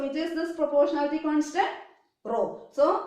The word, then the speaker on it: rho: so here this is the proportionality constant rho r h o what is the pronunciation rho rho means what it is proportionality